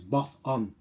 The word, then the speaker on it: Boson: But like I said to my son, there's no T in it. So it's Boson.